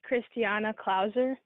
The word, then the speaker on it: Kristiana Clauser: our next speaker is christina closer closer if i mispronounce your name please excuse me hi christinia my apologies for mispronouncing your name please say what your name is it's kristiana clauser christiana okay okay welcome young